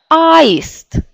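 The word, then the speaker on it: аист: Mais ici, la syllabe accentuée, c'est la première. Aist.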